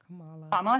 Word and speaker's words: Kamala: Am I pronouncing her name right? Kamala Harris.